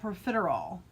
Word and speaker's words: profiterole: So this is called profiterole, and I did pronounce that correctly.